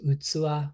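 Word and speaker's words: 器: the left, a word in Japanese that we pronounce as utsuwa, which means container or vessel.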